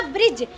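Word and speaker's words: bridge: ब्रिज। लेकिन ब्रिज में हम क्या नहीं पढ़ते? डी को नहीं पढ़ते। अगर कहीं भी कहीं भी कहीं भी डी के बाद क्या आएगा? जी आएगा तो डी साइलेंट रहेगा।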